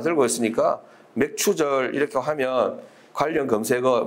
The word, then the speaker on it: 맥추: 오늘은 맥추절 맥추 감사 주일입니다. 발음을 잘해야 됩니다. 맥추 저는 정확하게 맥추라고 했는데 우리 전사님 가사님은 자꾸 맥주라고 듣습니다.